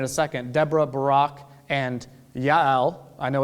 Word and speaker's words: Yael: second Deborah Barack and Yael I know it's a j I'm going to call her jail because that's easier for me but that's not to have pronounced there's no J pronunciation in Hebrew which is also why